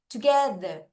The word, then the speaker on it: together: 사값 발음으로 해 주겠습니다. 자, 그러면 같이 읽어 볼게요. Together to together.